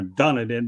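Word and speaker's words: Dunedin: So what's your pronunciation of done it in or whatever you call it?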